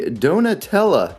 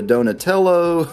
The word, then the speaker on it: Donatella: All right, so moving on along, we have the Donatella series. You know, I think I've pronounced this wrong so many times. I've called it a Donatello.